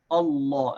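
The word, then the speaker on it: الله: Allah with affection and the mad in this is pronounced full meaning we say amor so we say Allah and his first love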